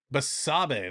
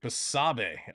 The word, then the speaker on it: Basabe: Basabe. That's how you pronounce it. Basabe.